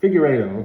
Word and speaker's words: Figueiredo: Figueiredo, okay?